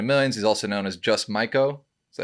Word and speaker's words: Just Maiko: He's also known as Just Maiko.